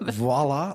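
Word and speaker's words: voilà: But voila, they are exceptionally good at it.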